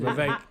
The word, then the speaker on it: Vivek: Vivek.